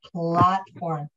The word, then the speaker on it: platform: the a in platform is the same a as in apple okay it's not the a in late so it's not plate